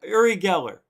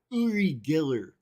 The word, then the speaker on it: Uri Geller: do this and that guy who was that uri geller you're uri geller erie giller as johnny carson would say his name uri